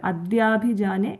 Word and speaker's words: അദ്യാഭിജാനേ: ഇത്യേവം പൂർവമാലോചിതം അജിതമയാ നൈവം അദ്യാഭിജാനേ. ഇവിടെ രണ്ട് കാര്യങ്ങൾ ശ്രദ്ധിക്കണം. ആലോചിതം അജിതാണ്, അല്ല മജിത എന്നുള്ള ഒരു ഉച്ചാരണം വരാതെ സൂക്ഷിച്ചാൽ മതി. ആലോചിതം അജിത. അതുപോലെ മയാ നൈവം അദ്യാഭിജാനയാണ്, അല്ലാതെ മദ്യാഭിജാനേന്ന് കേൾക്കാത്ത രീതിയിൽ ചൊല്ലുക. അതായത് അദ്യാഭിജാനെ.